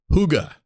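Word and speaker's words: hygge: it's this book called the little book of Huga that's spelled h y g g e Danish secrets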